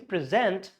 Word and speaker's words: present: Stress on the pre, pre, and this is zant, present, present.